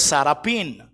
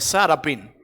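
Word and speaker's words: שרעפים: de diferentes formas Y esa palabra en el hebreo es sarapin así se se pronuncia sarapin Y cómo la Define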